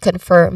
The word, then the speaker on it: confirm: Now we focus on the word confirm here. This is the stress is on this word, which is on the second syllable firm.